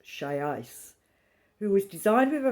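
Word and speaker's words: Xiaoice: So she's talking here also, reminding us about this chat box, pronounced Shai's, who was designed with a focus on high emotional intelligence.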